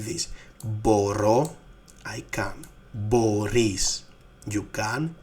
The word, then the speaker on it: μπορώ: Μπορώ, I can. Μπορείς, you can. Μπορεί, he's, it can. So, actually the difference here is just, the stress on the last word ending, on the last syllable.